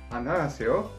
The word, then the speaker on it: 안녕하세요: So, seyo is se plus yo, but it sounds like say yo.